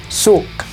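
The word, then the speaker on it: Zug: En este caso, la G termina sonando como una especie de K, pero muy sutil. Zuk, zuk. Si lo oyen por ahí, el K es sutil, pero es muy importante.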